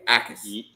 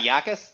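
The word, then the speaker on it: Jacas: And the J is silent. So it's Gabe Ais. It's a It's not It's not Yakis.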